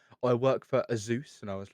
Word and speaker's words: Asus: And he meant like Asus, and I was like, "It is, Sure. but it is Asus. Like that's how it's supposed to be pronounced."